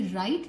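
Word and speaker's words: write: दीजिए थोड़ा सा कि राइट जो नया शब्द है जिसका मतलब है लिखना उसमें उसका स्पेलिंग है डब्लू आर आई टी ई जिसमें डब्लू एक साइलेंट लेटर है यानी हम इसको पढ़ नहीं रहे मगर वो है तो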